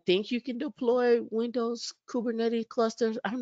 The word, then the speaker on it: Kubernetes: I said it right, Kubernetes. May spell it right.